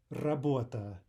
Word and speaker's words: работа: But start with the basics, start with the double T in butter, and try at all costs to avoid English R. Работа, работа, роман, роман, рюкзак,